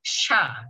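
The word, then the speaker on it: しゃ: Jadi shi ya jadi sha gitu. Jadi shi ya bacanya sha.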